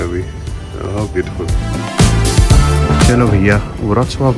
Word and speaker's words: Wrocław: वो व्रॉक्लाव लिखा है ना जो, हाँ उसको व्रॉक्सवाव प्रोनाउंस करते हैं।